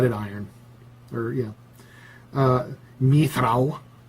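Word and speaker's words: mithral: iron or yeah uh mithrao which i pronounced mithril but that's just me and a lot of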